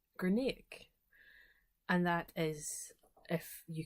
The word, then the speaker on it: Grianaig: but it is pronounced Grianaig. So it sounds like a K on the end, even though there isn't a K in the name.